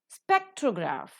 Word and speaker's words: spectrograph: Spectrograph, the first syllable is accented.